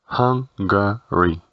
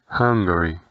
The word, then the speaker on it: Hungary: Es decir, Hungría suena Hungary, Hungary, mientras la palabra hambriento en inglés suena hungry, hungry, hungry, hungry.